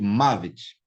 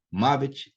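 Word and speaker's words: מָוֶת: Então, veja bem, primeira característica do segolado, ele vem acentuado na primeira sílaba. Mavet, Elef, Orhel, ok?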